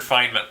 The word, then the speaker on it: Feynman: I'll also say no I'll stick with Richard Fineman because that guy was totally rad yeah he was super awesome yeah so I'm gonna stick with that fama said it right that's true Richard Feynman perfect you oh and Tomas can go have